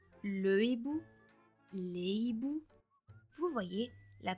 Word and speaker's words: hibou: le h aspiré cependant la prononciation du mot sera toujours identique peu importe le mot qui vient avant car le H bloque